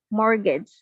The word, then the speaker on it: mortgage: mortgage yep that's correct there's a t after the r it's like a silent t mortgage okay are you mortgage on